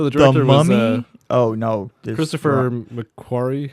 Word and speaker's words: Christopher McQuarrie: No, Christopher McQuarrie. Yeah, that's how you say his name.